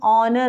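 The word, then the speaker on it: honour: वो वॉवल के जैसा है क्योंकि यहाँ पे एच साइलेंट रहता है. हम ऑनर बोलते हैं, ऑनेस्ट मैन बोलते हैं.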